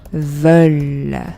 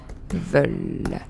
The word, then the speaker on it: veulent: Ensuite, on a nous voulons, vous voulez, et le dernier, ils, elles veulent. Pardon, veulent, comme ça. Okay, and again, you don't pronounce ENT.